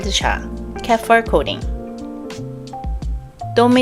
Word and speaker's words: Tome: Dôme is pronounced the same as T-O-M-M-E, dôme, a more widely known term.